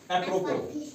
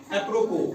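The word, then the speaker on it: apropos: जैसे ए पी आर ओ पी ओ एस। यहां last में जो है एंड में जो है एस साइलेंट रहेगा। खामोश रहेगा। लिखा जाएगा लेकिन पढ़ा नहीं जाएगा। जैसे एप्रोपो इसको क्या पढ़ते हैं? एप्रोपो पोष नहीं पढ़ना है। या पोज़ नहीं पढ़ना है। क्यों? क्योंकि एस यहां साइलेंट रहेगा।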